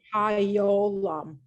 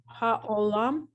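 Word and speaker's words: העולם: There's no yeah here at all. So it's ha, Just again. o, Hayolam. No, Okay. Haolam. that's right. But you have this silent. All right, the silent is silent. It's not yeah, it's just silent.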